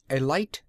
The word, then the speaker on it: Elite: Chug Scarrett was, and is, the proprietor and sole owner of the Elite Garage, and he pronounced it with a long I.